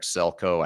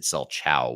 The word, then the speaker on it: Selchow: of this but uh it's celco I I said selchow which is actually how you spell it uh so it's